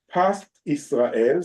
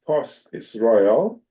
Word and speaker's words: Pas Israel: In the word of kashrut symbols and abbreviations, the words Pas Israel, sometimes pronounced Pos Israel, are generally used when